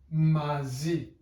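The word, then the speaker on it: μαζί: And it is pronounced mazi. Mazi. The first letter is an M, a M sound. Then we have an A sound. Then we have a Z sound. And then we have an E sound. Mazi.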